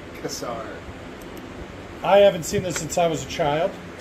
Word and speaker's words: Kassar: Pronounced Kassar.